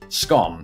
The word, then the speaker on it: scone: How do you pronounce scone? And as you heard just there, I do it to rhyme with the word bone. But many people in England will say scone, to rhyme with gone.